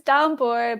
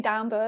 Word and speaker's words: Danboard: got 366 days of is it danboard or is it danbo I forget how you say it's danard but you can say dbo as well okay so yeah you